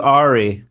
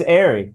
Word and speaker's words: Arey: Matt Ary, heaven forbid I call you Ari. Uh yeah, everybody does. So, it's probably annoying. You're like, "No, my name's Ary. Say it right."